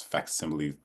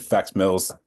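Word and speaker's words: facsimile: thrilling that's awesome um I also mispronounced that word it's fact simly I WR I said fact Mills because there you go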